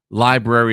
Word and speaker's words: LBRY: the lbry or library somebody tell me if it's library or lbry library is how you say lbry okay thank you so